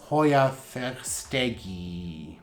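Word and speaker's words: Hoya verstegii: was named after someone you are supposed to try to preserve the pronunciation of their last name in their native tongue and then add the ee in this case or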